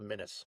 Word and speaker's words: Minnes: It's just like the state of Minnesota, spelled the same as well, Minis.